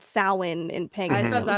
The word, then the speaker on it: Samhain: It's actually it's pronounced Samhain.